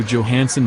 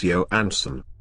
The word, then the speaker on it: Johansson: And for God's sake, Richard, it's Johansson. Why do you always pronounce the J so hard?